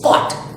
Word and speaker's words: caught: Next is caught. Similarly, something like straight. Caught. So G and H are silent.